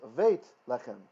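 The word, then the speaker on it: בית לחם: And you learned it with the B, the hard B. And then you see it somewhere else as Veit Lechem. It's the exact same word, exact same meaning. There's just, for phonics reasons, it's being pronounced as a V in that place, okay?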